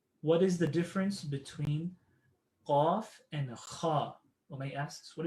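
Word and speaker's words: ق: It's the heavier version of kaf. So imagine kaf. If you can pronounce kaf, and then add an ah to it, qaf, qaf. So now instead of saying kaf, you're making it heavy and you're saying qaf, qaf, like awesome versus apple, awesome, qaf, qaf.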